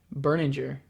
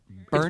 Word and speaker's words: Berninger: What is Matt's last name? Berninger, right? That's what we thought for about the last 55 years, but apparently it's Berninger. Berninger. Yeah. Yes, that's right. Yeah, Matt Berninger. We've said it wrong for 16 years, and he never corrected anyone.